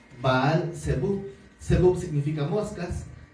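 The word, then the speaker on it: Belcebú: Bel por eso en el Nuevo Testamento se pronuncia como belsebu bal cebu sebu significa moscas y entonces hace alusión a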